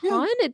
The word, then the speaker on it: Kahn: So I thought, I thought it was Kahn, and then I looked at that, I was like, Kahn?